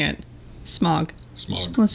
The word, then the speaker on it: Smaug: I think it's a Desolation of Smaug.